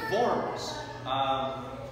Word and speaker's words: Worms: and he fled to forms forms which is the heart of lutheranism if you're taking notes and forms is we spell it like worms w-o-r-m-s um forms might be